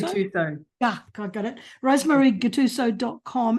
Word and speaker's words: Gattuso: Rosemary Gattuso? Gattuso.